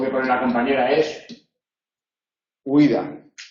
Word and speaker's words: huida: Se puede pronunciar separado, huida, igual que el otro día yo ponía el ejemplo de viudo. Viudo sería lo mismo. En este caso es ui, en este caso es iu, lo mismo nos da el orden, las dos son altas, se admiten las dos pronunciaciones, a efectos ortográficos se considera siempre diptongo.